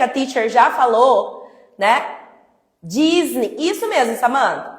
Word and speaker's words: Disney: Não existe Disney. Vem cá, teacher. Existe Disney. Disney. Toda palavra que termina com Y vai ter som de i.